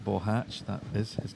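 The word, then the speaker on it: Boháč: here at the pronunciation I am assured because I ask that that is the correct pronunciation of Mr bohach's name radic bohatch that is his name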